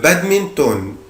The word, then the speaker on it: badminton: هنا بنطق حرف ال N اللي في آخر الكلمة عادي خالص جدا. le badminton.